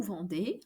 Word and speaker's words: vendez: Pronounce the EZ at the end of vous vendez like an E sound. E accent aigu. E. Vous vendez.